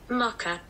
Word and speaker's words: mocha: that hang on right apparently this is how you say it mocka mocka okay mocka okay